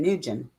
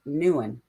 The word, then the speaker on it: Nguyen: very well too um you hear it pronounced as kevin nugent everywhere but she pointed out she's pretty sure it's pronounced nuan i don't know i'm